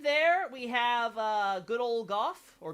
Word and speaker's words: Gough: In there, we have good old Gough, or Go. It's pronounced in the Japanese like Go, but the English pronounces it Gough.